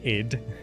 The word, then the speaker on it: id: So sometimes you just have to say ID Software, even though it's pronounced id.